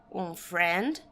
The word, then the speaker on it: friend: Um friend. Dois friends. Então, isso aqui é amigo. Presta atenção na pronúncia, friend. É como se não tivesse esse i para pronunciar, tá bom?